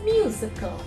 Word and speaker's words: musical: So it's musical, y sound there. And because musical, only 3 syllables are there, the first syllable or from the left, the 3rd syllable from the right is again stressed, like in political, political.